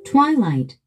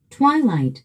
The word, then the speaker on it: Twilight: Twilight, Twilight. 우리 한국인들은 이 단어를 트윌라이트라고 합니다. 그런데 원어민들은요? Twilight, Twilight. Y 스트레스가 있습니다. Twilight.